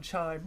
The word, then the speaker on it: Chime: be really interesting is Amazon chime rhymes with Amazon Prime and when I hear